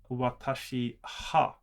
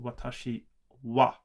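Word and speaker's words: は: look at the transliteration, it would say watashi ha, but that is pronounced watashi wa.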